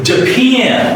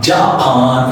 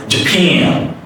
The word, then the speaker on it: Japan: So it's Japan. It's not Japan. It's not Japan. I've listened so many pronunciation for this word from Indian and from Chinese and other part of the world. So I want to tell you some standard one. It's Japan.